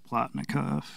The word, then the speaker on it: Plotnikov: Plotnikov, yeah. Is that how you say it? Mm-hmm.